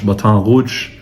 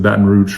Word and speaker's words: Baton Rouge: Baton Rouge is in Louisiana for those of you that speak French Batan Rou uh literally the red stick but uh everyone pronounces it Baton Rouge from Louisiana uh here in the United States of America.